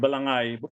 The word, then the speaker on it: balangay: it as balanghay, but H is silent because they didn't have this diacritical marks at the time. When H follows a G, the G should be pronounced as ga, not as ja.